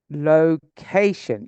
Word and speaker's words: location: def present present present location yes second syllable bad bad temper that's